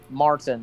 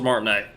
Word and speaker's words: Martinet: to, of course, Charles Martin. Like his part in the Mario film. Apparently, what now? Charles Martinet. Charles Martin. I just heard you say Martin. Because I didn't pronounce it right, but Martinet, yeah.